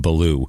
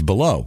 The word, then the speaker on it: Balough: a guy here now the pronunciation on this I'm just going to go with beloo it's Gary Baloo uh Gary Lee Baloo uh a l o u g h but I would say it's below you would imagine right